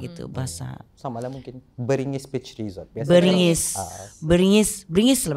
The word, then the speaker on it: Beringgis: Beringgis kah Beringgis? Habis ada 2 G gitu. Dah toh lah, selalunya orang sebut Beringgis. Beringgis. Jarang orang bilang Beringgis. Tapi kalau yang proper bahasa Melayu kali Beringgis lah.